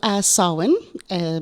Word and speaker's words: Samhain: Yeah, so Samhain, spelled Samhihain. Never said as it's spelled.